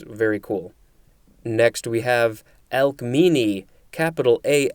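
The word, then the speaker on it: Alcmene: pictures which was very cool next we have elk meanie capital a l c m e n e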